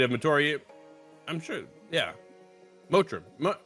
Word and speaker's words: Motiram: Mator I'm sure yeah motra mum that's how it's pronounced today it's such a